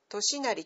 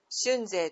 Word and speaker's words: 俊成: である藤原俊成これはとしなりと呼んでも間違いではないが俊成と読むのが古くからの習いとなっている a 92 年 1114